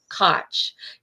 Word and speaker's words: Koch: And you all, I'm very delighted today to have Koch. It rhymes with Scotch, you all.